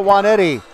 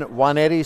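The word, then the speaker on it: Nwaneti: Jason Juanetti spells his last name N-W-A-N-E-T-I, but the first N is silent.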